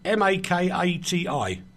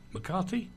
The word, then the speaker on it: Makati: The A venue is a large performance venue in Makati? How do you say that, Leigh? M-A-K-A-T-I. Makati?